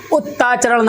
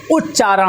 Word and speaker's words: उच्चारण: उच्चारण जो बनता है हमारा उत प्लस चारण से बनता है, उत्ताचरण मत कर देना, ठीक है, उत्चारण मत कर देना, उच्चारण नहीं उच्चारण होता है।